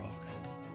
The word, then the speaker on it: roc: From what I understand, a rock is a massive, massive bird.